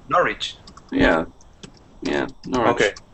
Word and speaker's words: Norwich: n.o r wi CH pronunciation by the way for this one we're gonna pretend that there's no there's no w-well pretend there's no W I said well to say no reach yeah yeah okay like